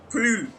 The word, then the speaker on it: Proulx: From the log of Marcia Bastien Okay, does anyone know how you pronounce that? Proulx. Yeah, Prue.